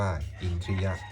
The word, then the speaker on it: อินทริยะ: ออก เสียง ว่า ตวา คำ ว่า อินทริยะ ให้ ออก เสียง ทหาร กับ ร เรือ โดย ใช้ สระ อิ ร่วม กัน เป็น เสียง ควบ กล้ำ ออก เสียง ว่า อินทริยะ บท สวด พระ อภิธรรม